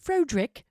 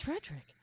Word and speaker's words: Frederick: Do you pronounce it Frodrick? No, it's Frederick.